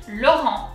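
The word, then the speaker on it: Laurent: from deep down and the t is silent as you saw i didn't pronounce it so lauren so if we go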